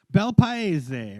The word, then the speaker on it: Bel Paese: I'm sure, but I'm gonna guess it's Bel Pace or Bel Paese. But you're Italian, Mike. Bel Paese, right? There you go. That's it. With the hands. You gotta have the hands. Bel Paese.